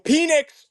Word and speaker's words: Penix: Michael Penix. It's not pronounced Penix, but I love saying Penix.